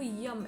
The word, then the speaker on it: यम: जो बीज मंत्र है वो यम है याय य पे अं की बिंदी यम यम का आप उच्चारण करिए आपको बहुत अच्छे रिजल्ट्स